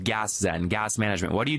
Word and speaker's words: Gaszen: your latest and greatest which is pronounced I believe gas Zen gas management what do